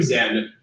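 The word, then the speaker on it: Xen: portal to an alien planet called Zen, but it's spelled with an X.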